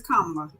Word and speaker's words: Kamala: She got the Indian in there. That's that Indian that got pronunciation. Well, just say her name right is what my point is. Go ahead. It is Kamala.